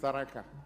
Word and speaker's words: Tharaka: You pronounce it Tharaka Nithi, it's Tharaka.